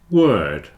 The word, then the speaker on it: word: W it's uh so word rhymes with third and bird so there are three